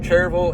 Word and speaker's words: Cherryville: use a shop uh out of cherille it's spelled Cherryville we caught jille you will get picked on around here if you don't caught jille it's just a southern thing you live around here